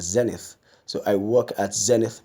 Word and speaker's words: Zenith: Eddy n ith people some people see Zenith Bank I don't know how that pronunciation has come about but the proper rendition of that word is Zenith so I work at